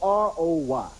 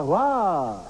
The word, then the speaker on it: Roy: Last name is spelled R O Y. I'm thinking Roy. Silly me. Watching the game, the announcer goes, "And another kick save by Wah W.